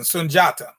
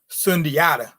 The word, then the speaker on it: Sundiata: you get a little closer to the actual pronunciation sunjata as opposed to sundiata i don't know who that is that's some